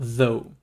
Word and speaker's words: though: Bon, en tout cas, pour though, on ne va pas prononcer le U-G-H à la fin, on prononce simplement though.